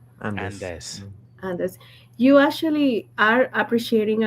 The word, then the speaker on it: Andes: What is the proper way to pronounce Andes? Andes. Andes.